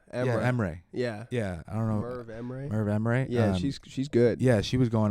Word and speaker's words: Merv Emre: Merv Emre.